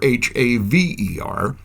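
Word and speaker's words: Hawer: In their so-called Pennsylvania Dutch dialect, the word for oats is spelled as H-A-W-E-R or H-A-V-E-R and spoken as haver.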